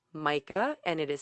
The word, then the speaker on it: Majka: on instagram under my name which is micah and it is spelled the last name is m-a-j-k-a